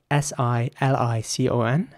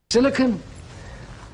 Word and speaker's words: silicon: is spelled s-i-l-i-c-o-n and in British English some people might say silicon silicon integrated circuit and in American English some people might say silicon but some people might also say silicon especially when I talk about Silicon Valley second dioxide you mean